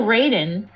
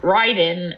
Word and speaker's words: Raiden: originally spelled Raiden Rayden, and I think they continued to pronounce it Raiden all those years later.